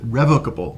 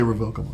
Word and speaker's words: revocable: a living trust or as I pronounce it revocable living trust some people say revocable and yeah I just